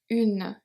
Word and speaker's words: une: Because the E is silent, but because we have the E, we pronounce the N before. So it's pronounced une, une, une. Otherwise it will be pronounced un.